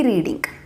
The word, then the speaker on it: read: ದೋ ಅದು ಪದದ ಸ್ಪೆಲ್ಲಿಂಗ್ ಸೇಮ್ ಇದ್ದರೂ ಕೂಡ ಅದರ ಉಚ್ಚಾರಣೆ ನಾವು ರೆಡ್, READ, ರೆಡ್ ಅಂತ ಹೇಳ್ತೀವಿ ಭೂತಕಾಲದಲ್ಲಿದ್ದಾಗ.